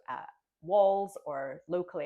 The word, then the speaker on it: Walls: town um that I mentioned that's called uh Walls or locally it's pronounced Walls.